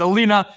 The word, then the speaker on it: Alina: So it's Alina, and it starts with a K.